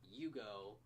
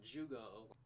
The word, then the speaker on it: Yugo: His nickname that Basby gives him is Yugo. It's not Jugo.